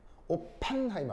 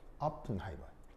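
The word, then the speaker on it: Oppenheimer: 오픈하이머라고 알아요? 네? 오픈하이머. 오펜하이머요? 아, 예, 예. 예. 애가 약한 발음이기 때문에 약하게 발음해야 돼요. 오펜하이머 아니에요. 오픈하이머. 이가 약하게 발음.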